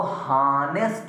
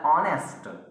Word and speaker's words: honest: तो मेरी बात सुनिएगा, ये जो HONEST है इसको हानेस्ट नहीं पढ़ते हैं, एच को ढांक देते हैं, ओ से इसका प्रोनाउंसिएशन निकलता है ऑनेस्ट।